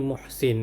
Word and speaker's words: Muhsin: Sebut dia ni muhsin kan. M u h s i n. Sebab dalam bahasa Arab kita tulis mim ha sin nun kan.